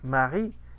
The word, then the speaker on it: Marie: Marie. Aquí aplicamos la regla de la E final, ¿no? Es lo que estamos haciendo. Es la E final la que no se pronuncia aunque esté el diptongo.